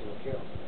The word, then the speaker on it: Vogel: I've been pronouncing it wrong for years. What? Vogel. I thought it was Vogel. Right. Okay. Yeah, I used to too, don't feel bad. I used to pronounce it Vogel too. It's Vokel.